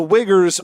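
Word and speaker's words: Uyghurs: purposes okay what the wiggers what'd you say wiggers what those are the Muslims the Chinese Muslims that's what they're called oh that was a name for uh no u-y-g-h-u-r-s it's pronounced wigger that's not is really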